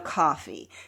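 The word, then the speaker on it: Coffey: So, Michael Clark Duncan plays John Coffee. So, he always says, "Like the drink, just spelled different or no, just not spelled the same." That's what he says. Like the drink just not spelled the same.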